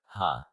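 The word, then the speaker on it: ห้า: for those in need in thai the number five is pronounced ha so instead of saying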